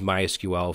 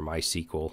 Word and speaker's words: MySQL: It's an object relational database, and I used MySQL for years, or MySQL, however you want to pronounce it.